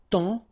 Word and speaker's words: temps: And then temps, okay, so in that case, it's only the nasal here that you will hear, temps, okay, because the P is not pronounced and the S is not pronounced.